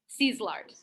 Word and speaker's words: Szilard: Szilard.